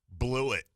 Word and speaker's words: Blewett: the Chicago Bears and it's not even like like blew it but it's spelled like weird like b-l-o-u-g-h-b-l-e-w-i-t-t like it is just blew it Chris blew it